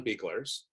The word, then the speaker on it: Buechler: I'm hoping I'm pronouncing that right. Buechler, yes.